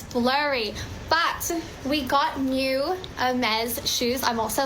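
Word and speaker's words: Hermès: Um she went into Hermes. That's how you pronounce it.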